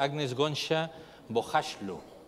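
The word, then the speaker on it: Agnes Gonxha Bojaxhiu: nombre no Bueno pues yo lo pronunciaría agnes gona bashu ese era el nombre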